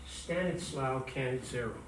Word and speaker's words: Stanislao Cannizzaro: At this meeting, the Italian chemist, I love this guy's name, it's pronounced Stanislao Cannizzaro, presented a remarkable paper in which he helped solve what Dalton considered to be a mystery associated with atomic masses.